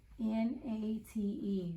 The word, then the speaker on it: Nate: went out however this n a t e we have that e that makes this a long a so Nate say it Nate say it say